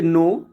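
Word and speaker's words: know: है के एन ओड तो हम ऑल टाइम उसको नो बोलते हैं नो का मतलब जानना होता है नी घुटने तो नी के तो उसमें भी हम के एन डबल ई और के को नहीं बोलते हैं ओनली एन को बोलते हैं बहुत अच्छे नेक्स्ट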